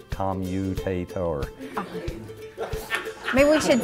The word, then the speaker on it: commutator: What are some of the most interesting ways that you've heard people say commutator? Commentator. Commentator is the most common. So what's the real word? Commutator. Did I say that right? Yes, say it again. Look at how do you say it correctly?